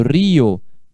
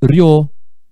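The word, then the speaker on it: río: Do jeito que eu escrevi aqui, é um ditongo. Então, se eu for ler isso aqui, eu vou falar rio. Rio. Uma sílaba só.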